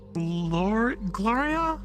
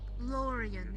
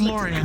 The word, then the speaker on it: Lorian: Oh, yes, that's, Gloria? Lorian, it's 3 syllables. Lorian. Lorian. Yeah, so is Gloria. Gloria's 3 syllables too. Gloria. Yeah, Gloria's 3 syllables. Hi. Anyways, it's Lorian, not Gloria.